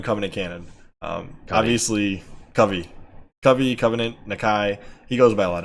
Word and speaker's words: Nakai: Yeah, he told us last night, he's like, it's Nakai.